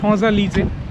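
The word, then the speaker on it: Champs-Élysées: French উচ্চারণও খুবই জটিল। ওখানে একটা ফেমাস স্ট্রিটের নাম শঁজালিজে আমরা গিয়েছি, কিন্তু ওই লেখা দেখলে দাঁত ভেঙে যাবে, মানে উচ্চারণ অন্যরকম আর লেখা অন্যরকম।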